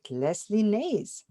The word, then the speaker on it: Lesley Nase: host Dr and today I'm with Leslie Nays do I pronounce it right Leslie yes thank you Leslie